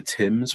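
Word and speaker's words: Thames: eye of london um she pronounced the rhythm the river tim's without the h for the first time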